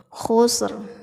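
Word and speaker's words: خسر: Khusr, ada r-nya sedikit.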